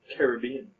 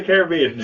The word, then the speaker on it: Caribbean: Americas so bye-bye right it should be the American pronunciation and in fact we even have some big movies which have Americanized this word Caribbean oh I say the American oh sorry the Pirates of the Caribbean so I would say